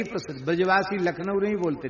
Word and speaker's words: लखनऊ: ब्रजवासी लखनऊ नहीं बोलते, नखलऊ बोलते हैं।